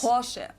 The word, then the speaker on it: Porsche: Porsche. So there's like this short a sound in the end.